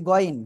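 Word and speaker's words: غين: না এরপরের অক্ষরটা কি গাইন নাকি গইন কোনটা হবে মোটা আওয়াজে পড়তে হবে গাইন গলার শেষ ভাগ থেকেন একসাথে জোরে বলেন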